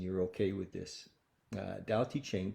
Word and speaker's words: Tao Te Ching: do this and you're okay with this uh dow t chain pronounced more or less can be translated as the